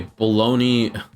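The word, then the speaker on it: Bologna: Bologn, that's how you say it, by the way.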